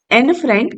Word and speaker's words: Anne Frank: तो अगर आप कभी ये नाम ऐसे सुनो एन फ्रंक, तो हंसी मत उड़ाने लग जाना कि देखो इसको तो प्रोनाउंसिएशन भी नहीं आता है ना। एन फ्रैंक इज a correct pronunciation and इट इज a Dutch pronunciation. एन फ्रैंक इज a British pronunciation.